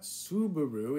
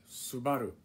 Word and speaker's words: Subaru: in japanese right so it's not subaru it's subaru and um this one here